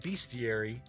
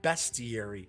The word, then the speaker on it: bestiary: that one too nefarious because I always said bestiary and then someone not very kindly which usually what people are correcting me online they're not very kind about it I pointed out that no it's pronounced best Yuri so I think it's kind of odd I